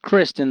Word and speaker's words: Christine: Christin it's Christen it's it's pronounced Kristen though Kristen Michael so it doesn't sound quite as feminine it's still pretty bad